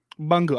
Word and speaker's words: Bunga: how do you say your name it's bunger bunga i'm here with uh bungal it's out on